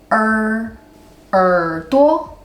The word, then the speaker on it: 耳朵: 耳朵 This one is the same thing. In Taiwan, we pronounce this word softly. We just curve our tongue a little bit in real life. So it becomes 耳朵 Yay!